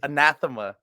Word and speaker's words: Anathema: The way you pronounce it is Anathema.